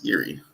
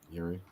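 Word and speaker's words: Jiří: Is it Yuri or Jiri? How do you say his name? Yuri. Yuri. It's from Czech Republic.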